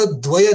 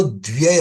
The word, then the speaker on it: द्व्यय: सब लोग द्वय कहते हैं, वो शब्द द्वय नहीं है, वो द्व्यय है।